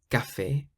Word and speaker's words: café: If you see the letter C in front of an A, an O, or a U, then you pronounce it like a K, so it's a K sound.